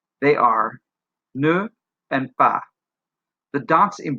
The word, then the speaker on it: ne: Notice also how I pronounce it, because ne is a short word, a two-letter word with a consonant and an e muet, a schwa, ne. We drop the sound of the e altogether.